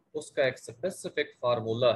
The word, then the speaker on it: formulae: Next आपको different types of फार्मूले जो हैं ऑर्गेनिक कंपाउंड्स के वो बताए जा रहे हैं। ये वर्ड आप देख रहे हैं FORMULAE, इसको प्रोनाउंसिएट करते हैं फार्मूली।